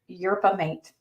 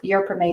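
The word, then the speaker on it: yerba mate: some people the other one and I may butcher the name of this is europea mate it was studied at one gram three times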